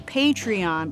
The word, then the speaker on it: Patreon: my saying it right patron patron patriot it's patreon but she would be a patron right anyways